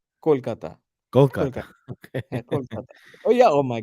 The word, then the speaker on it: Kolkata: where you're from yeah yeah how do you pronounce the city's name but it's it's Kolkata okay oh yeah oh my God you got